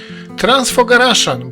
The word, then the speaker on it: Transfăgărașan: Transfogaraszan, bo taka jest prawidłowa wymowa nazwy tej drogi, przez lata był uznawany za jedną z najpiękniejszych dróg świata.